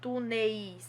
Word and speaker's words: túneis: mesmo ocorre com túneis ninguém fala túneis túneis não a pronúncia é túneis então é uma sílaba ah tá bom então